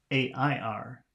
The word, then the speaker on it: air: And then the next word is A-I-R, and that should be pronounced air.